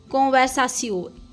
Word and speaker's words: conversation: वो फ्रेंच में भी सेम है बट the pronunciation is different कोवसाशिस कोवसासियो टी आई ओ N this is स इंग्लिश